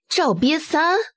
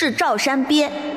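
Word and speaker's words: 赵山鳖: unique Incorrect pronunciation It's Zhao Shan bie Zhao from Zhao Qian Sun Li The mountain of Da Shan The turtle of Wang Ba He just couldn't help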